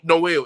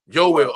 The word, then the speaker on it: Yoel: Noel. Is it Noel or Yoel? Yoel. Okay, I didn't want to say it wrong.